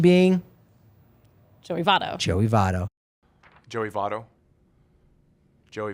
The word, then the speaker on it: Joey Votto: Pronunciation being? Joey Votto.